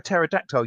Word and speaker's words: pterodactyl: can't you hear a pterodactyl use the bathroom? Hello? Oh, sorry. What? Because I the was P waiting is for the silent. next joke. Because the P is silent.